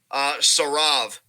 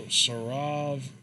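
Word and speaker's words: Saurav: What's this Sarav bigger dude's here. name? Sarav. I think is how you pronounce it. Sarav. I don't know.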